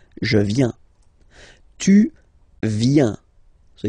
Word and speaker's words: viens: So the first form is je viens, je viens, okay? Remember this I, viens, viens, and then this nasal final S not pronounced. Je viens.